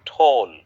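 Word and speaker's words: tall: নাদিম, এরপরে উচ্চারণটা আমরা বলি টল, টল না, বলি ঠোল।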